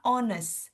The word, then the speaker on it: honest: Honest bacanya honest hanya kita hilangkan seperti itu.